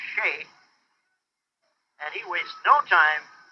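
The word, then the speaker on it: Skjei: That's spelled S-K-J-E-I, pronounced Shea.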